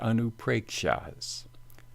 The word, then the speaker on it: Anupreksha: Double A here indicates long A, and is pronounced A, as in saw.